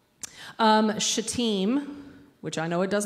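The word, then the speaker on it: Shittim: in places in the Old Testament right um shaim which I know it does not look like that's what it says but that's how you pronounce it shaim and gilgal is from The Book of Joshua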